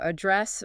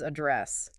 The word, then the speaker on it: address: So address versus address. One is location, one is to speak to.